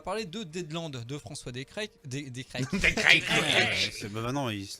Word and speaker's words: Descraques: Voilà, par contre, on va parler de Deadland de François Descraques. Maintenant, ça se prononce à l'américaine.